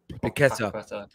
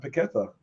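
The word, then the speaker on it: Paquetá: Lucas, how is that pronounced? The Leon midfielder? Paqueta.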